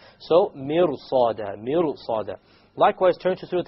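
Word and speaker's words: مرصاد: Mirsa is difficult, because the sad requires your mouth to become itbaq, like isti'la. So therefore, the ra, when you make it heavy, it makes it easier to pronounce the sad.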